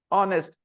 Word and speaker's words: honest: honest should be pronounced honest they know that H is silent there they know that k